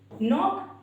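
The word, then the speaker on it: knock: Knife यानी कि चाकू, नी यानी कि हमारे घुटने, नॉक यानी कि खटखटाना, नाइट यानी कि योद्धा। इन सारे वर्ड्स में जो गाइस के है वो हमारा साइलेंट है।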